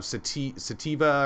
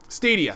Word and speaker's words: Stadia: can kind of like um the google uh sativa or i always say it wrong says satella um oh their stadium stadia thank you yeah the online streaming gaming situation